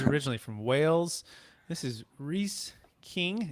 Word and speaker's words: Rhys: And again, it's making sorry to pronounce it right. It's Rhys, right?